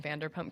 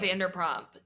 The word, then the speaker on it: Vanderpump: I did watch a lot of Vanderprompt. Yeah, I I I watch a lot of Vander what how do you say it? Vanderpump.